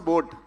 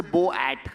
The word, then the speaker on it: boAt: nobody can mispronounce a boat yeah right whatever you try sometimes just people say bow at or something because of the capital A but otherwise it's bored and why did I